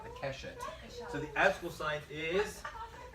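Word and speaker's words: קשת: The keshet, right, the keshet. So the astrological sign is, But isn't Keshet rainbow? right, it's the arm. Well, Okay. that's a bow, it's the bow. It's pronounced kashat.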